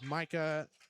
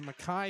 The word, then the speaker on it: Micah: There's Micah, excuse me, Mai Stenzel. Spelled Micah, but it's pronounced Mai as the second of two free throws is good for Corbin Rodriguez.